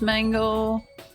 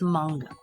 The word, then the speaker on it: manga: Wait, what is what is pronounced mango? Yeah, let's It's not pronounced mango. It's manga.